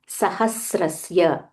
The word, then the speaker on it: सहस्रस्य: सहस्रस्य वेदव्यासो महा मुनिह सो व्हनेवर there is a half letter make sure you pronounce it properly without skipping it for example here ऋषिर नाम there is a half म नाम सहस्रस्य half स सहस्रस्य वेदभ्यासो there is अ